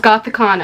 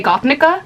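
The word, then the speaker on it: Gothikana: The book that I read was Gothicana by Renix, and I was about to say Gothnica. That I've been saying Gothnica the whole time. Gothicana, not Gothnica.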